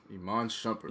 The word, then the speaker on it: Iman Shumpert: Iman Shumpert.